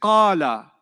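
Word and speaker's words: قال: When I say qala, how many syllables did you hear? Qala. 2 syllables, isn't it?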